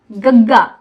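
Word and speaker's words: ਗ਼: गग्गा, GAGGA, गग्गा, गग्गा, गग्गे पैर बिंदी।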